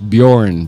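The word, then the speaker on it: Björn: ang pronunciation niyan is born by y so sa Europe yung letter J ang pronunciation ay Y kaya ang tawag ng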